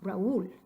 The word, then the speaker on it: Raúl: But if it really is a diphthong, it stays together in one syllable, making that name one syllable. Try that. It would come out a very obnoxious Raúl. That just sounds terrible. Raúl. And we obviously don't want Raúl. We want Raúl. Raúl. Ahora tenemos que dividir el diptongo. Tenemos que dividir en dos sílabas este diptongo potencial. Acento escrito sobre la U. Entonces Raúl, Raúl, dos sílabas.